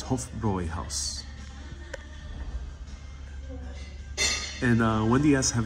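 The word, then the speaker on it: Hofbräuhaus: pronunciation of house uh you can't forget that umlot yeah yeah that's why many Americans will pronounce it Hofbrau house but it's hope for Roy house and uh Wendy yes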